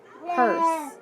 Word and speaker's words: purse: are so pu ers purse listen at the end do you hear that last e no so i need to cross it out too purse purse all right